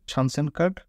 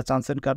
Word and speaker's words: Chancenkarte: কার্ড or opportunity কার্ড আসলে German ভাষায় যদি আপনি জানসেন কার্ড উচ্চারণ করেন তাহলে এটাকে বলা হয় সানস্যান কার্ড এজন্য এটাকে সানসেন কার্ড বলা হয় এটা চান এন্ড কার্ড না আর ইংলিশে যদি